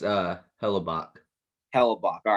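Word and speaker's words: Hellebuyck: really good job and uh their goalie conor hella hello boyak sorry say that these names are weird it's it's uh hellabach hellabach all right i'm sorry if i for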